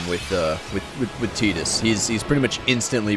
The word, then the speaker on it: Tidus: In the in in the second day on Destiny Islands in Kingdom Hearts, Waka correctly pronounces uh Tetus's name. Um he says, "Me and Tetus are going to go do some exploring today."